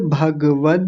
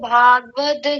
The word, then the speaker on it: भगवत: दोनों को ओम श्री परमात्मने नमः अथ श्रीमद् भागवत गीता भागवत गीता नहीं है इसको अभी थोड़ी देर पहले बताया था भगवत गीता फिर से बोलिए इस